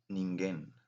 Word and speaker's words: ningen: Okay, last but not least, in Japanese, we have the word ningen.